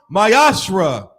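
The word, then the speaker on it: מעשר: and malachi 3 8-10 means 10th in hebrew and is pronounced mayashra 10 of every penny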